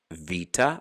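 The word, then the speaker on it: βήτα: letters like the bait for beta or in modern greek vita with a v sound just like the letter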